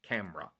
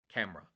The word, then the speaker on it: camera: example taii people often say Kar right three syllables it's wrong it's camera camera right so by understanding the correct syllables you're